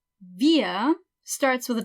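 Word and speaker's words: wir: like the letter S via starts with a W just like we but we pronounce every W like a V so it's via okay via eeeh rhymes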